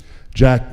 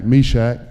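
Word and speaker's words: Meshach: it a little bit jack or not jack meshack it rhymes forgive me another corner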